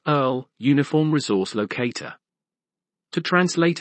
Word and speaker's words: URL: up and become internationalisms ieurl pronounced Earl uniform resource locator to